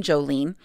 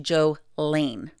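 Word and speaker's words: Jo Lane: combination be joe lean she never went by jolene although some people did pronounce her name jolene her name was actually joe lane so they the combo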